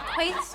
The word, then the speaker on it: Keith: On Quaith's recommendation, It's Keith, pronounced Quaith.